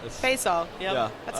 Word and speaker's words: Faisal: My name is hard to pronounce, but it's Fay like say and Sal like Sal, so Faisal. Faisal.